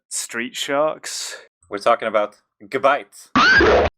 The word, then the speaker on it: Gabite: does anyone remember Street Sharks we're talking about gabites it's pronounced gabit it is actually pronounced gabit because it's it's